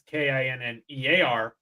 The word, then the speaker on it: Kinnear: Because Kinner is Scottish, and it was actually Kinnear. And they spelled it multiple different ways, so it's spelled K-I-N-N-E-R. but if you go back to the Scots, it's Kinnear, which is because that's the way it was pronounced.